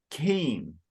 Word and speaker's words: Cain: And it's Cain. You're pronouncing that a little more like the Portuguese pronunciation.